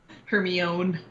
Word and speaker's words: Hermione: I don't remember what word it was, but I didn't know how to pronounce Hermione's name for like the first 3 books until the movie came out. Hermione.